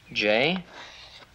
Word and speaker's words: Joe: Now, here's how you spell my name. J-O-E. Joe. Joey. No, not Joey. Joe. The E silent. The E is silent, right.